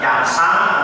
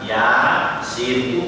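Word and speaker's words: يس: Ya dan sin tidak dibaca yasa atau yas, tapi dibaca ya, sin, utuh huruf-hurufnya itu.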